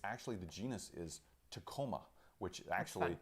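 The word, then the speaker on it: Tecoma: It's actually, the genus is Tacoma, which actually, it's spelled a little bit differently than our Tacoma, Washington, but it's still pronounced Tacoma.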